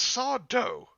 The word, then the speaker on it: Sardo: something the american way that's sardo no mr accent on the doe huh that's who i